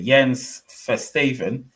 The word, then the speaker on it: Jens Verstaven: Jens Verstaven watching from Belgium, and somebody will ask, why am I pronouncing it like that? Because that's how you pronounce it, mate. It is Dutch or Flemish if you want to be Belgian.